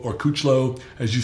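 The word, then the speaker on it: Kuclo: Rafael Brandon Curie Charles Dixon of course Steve kook low or couch low as you say is the proper way to pronounce it Josh the liniment alarm it's Victor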